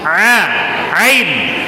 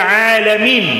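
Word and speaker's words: العالمين: Misalnya kalau dibaca alhamdulillahi rabbil a ain. Alhamdulillahi rabbil alamin.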